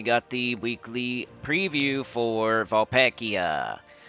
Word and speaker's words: Vulpacea: Then we got the weekly preview for Vulpekia. Vulpacia.